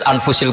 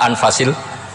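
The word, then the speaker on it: أنفس: anut bacaan saya saja di sini ditulis anfusil kutub kalau saya baca anfasil kutub karena maknanya kitab ter baik Kalau kitab terbaik bacanya bukan anfus tapi apa anfas ya nanti kamu debat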